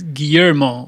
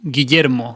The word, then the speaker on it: Guillermo: So, you pronounce it for me again. It's Guillermo, originally. Guillermo in Spanish.